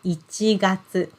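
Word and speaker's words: 一月: is this one and we pronounce it as ichigatsu so ichi number one and then gatsu month yes sorry i should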